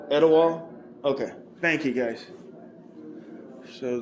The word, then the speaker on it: Etowah: across the way there I think I'm pronouncing that right is that is that edwa County I'm sorry what is that how you pronounce it Eda okay thank you guys